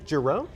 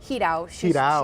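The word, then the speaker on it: Jirau: So forgive me if I mispronounce the name here, Sophia Giroux? Hidao.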